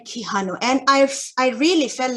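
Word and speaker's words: Quijano: theory such as minion so that's how we pronounce their names miniolo um and kihanu and i've i really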